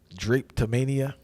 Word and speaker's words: drapetomania: You talk about Samuel Cartwright's theory called, and excuse me if I'm pronouncing this wrong, Drapetomania. Oh yeah, Did I say that correctly? Drapetomania.